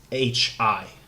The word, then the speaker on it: Mecharashi: So let me just spell it out properly. So wish list again. So Mecharashi.